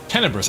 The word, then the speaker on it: tenebrous: Tenebrous. I pronounced it correct.